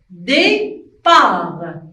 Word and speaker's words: départ: Départ. Et aussi, T, c'est une lettre muette. On ne la prononce pas. On écrit, mais on ne la prononce pas. On dit départ.